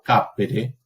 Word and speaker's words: capere: Yo antes dije habere, una palabra grave, y ahora digo capere, una palabra esdrújula.